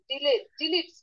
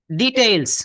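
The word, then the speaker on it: details: From the advertisement column, জি, advertisement, advertisement column, the job seeker and traders get useful hints and deletes. ডিটেইলস। হ্যাঁ আপা, এটা উচ্চারণ হবে ডিটেইলস।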